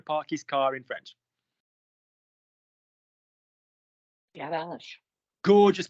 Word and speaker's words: garage: Garage. Gorgeous pronunciation. Notice that one of those G's is hard and one of those G's is soft.